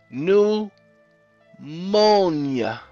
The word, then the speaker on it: pneumonia: anyway leads to pneumonia see the P is silent new monia okay elect a Sh